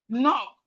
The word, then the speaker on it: knock: beginning of a word, whenever we have K and N at the beginning of a word, the K is silent.